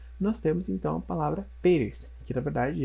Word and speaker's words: Pérez: temos então a palavra Pérez, que na verdade é um sobrenome, né, em língua espanhola. Então, Pérez, Pérez, Pérez. A acentuação ocorre, então, na penúltima sílaba e ela é terminada em Z.